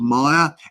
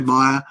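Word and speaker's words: Myr: And this is a friend called Meyer, M-Y-R. That's his surname, or the name that we speak, because his first name's a little bit complicating for me to pronounce. So we just say Meyer, and that's his link there.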